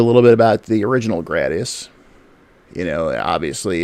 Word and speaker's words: Gradius: Yeah, I've always called it Gradius. Anyway, I'm a gray guy, but as long as that doesn't interfere too much with the flow of things, I guess I'll just.